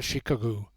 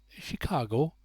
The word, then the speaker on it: Chicago: the way from that Shikagoo." "Chicago," suggested Bud politely. "Just that, Shikagoo." "Chicago, it depends on the way you spell it," said Kate Leslie. "I was brought up to call it Shikagoo."